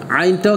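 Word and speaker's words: عين: আর আইনটা হচ্ছে হলকের এই মধ্যখানে আইন আইন, আবার বলেন আইনের একক কি আইনের একক কি, আবার বলেন আবার সবাই মিলে আইনের একক কি কেমন।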